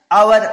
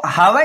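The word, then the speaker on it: hour: फिर नेक्स्ट जैसे एन आवर, वही है एच साइलेंट होता है इसमें, इसको हावर नहीं प्रोनाउंस करेंगे, आवर प्रोनाउंस करेंगे, और जब आवर प्रोनाउंस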